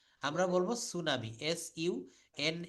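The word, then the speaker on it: tsunami: কম beta বলবো না যেমন সুনামি সুনামি লিখতে গেলে কিন্তু আমরা বলি টি সুনামি এটাকে আমাদের লিখতে হয় টি সুনামি কিন্তু এটা আমরা বলতে পারবো না আমরা বলব সুনামি এস ইউ এন এ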